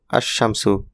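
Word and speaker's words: الشمس: এখানে আল এর লাম উচ্চারিত হয় না। আরশিন এর উপর তাসদিদ বসে। অর্থাৎ উচ্চারণ হবে আশশামসু।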